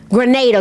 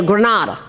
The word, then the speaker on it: Grenada: Grenada. Granada. I've heard it pronounced both ways.